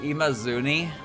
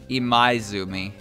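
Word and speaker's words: Imaizumi: was it oh no was it imazuni i don't think so e my zumi okay i was close i missed the eye kagado's name is fine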